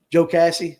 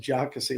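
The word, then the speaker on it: Jocassee: Joe Cassie. Did I say it right this time? I know I said Jockassie last night.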